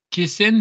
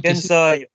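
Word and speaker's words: Kansai: Euh face à Dynamite Kessen. C'est ça ça se prononce Kessan. Kensai.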